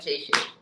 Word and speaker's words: Seyi: For those that are not Yoruba, Shay is spelled Seyi.